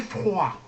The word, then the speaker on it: froid: Il fait froid.